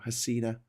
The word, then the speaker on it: Hasina: It's HSSINA, so Hasina. Should we say Sheikh Hasina? If we said that wrong, I'm very sorry. Sheikh Hasina.